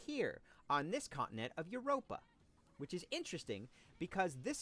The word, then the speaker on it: Europa: This is the continent of Europa, although sometimes it's pronounced Eupora, but usually it's Europa.